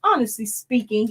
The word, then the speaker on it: Honestly Speaking: Honestly speaking, it's pronounced Speaking. It's a play on words with the ink in there, but it's pronounced Honestly Speaking, because if you've watched